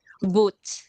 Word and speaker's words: Boot: How do we pronounce it? Boot.